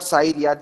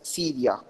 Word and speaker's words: Syria: to pronounce it turkey this is not sairia this is syria okay in the last